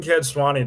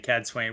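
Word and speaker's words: Cadsuane: it back fair enough i think i'm keeping kids swanny to be honest i like it hey well i'll just pick a different way of saying it wayne okay i think uh man madam and ethernet is telling us the right thing cad swain which like i said i think is the correct one as well and just it's i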